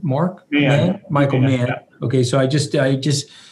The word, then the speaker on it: Mann: Mann.